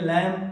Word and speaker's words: lamb: लैम।